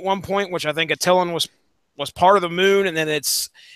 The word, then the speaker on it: Attilan: Where the kingdom of the Inhumans are at, and I'm going to pronounce this as Atalan. I don't know if you guys are going. No, it's Attilan.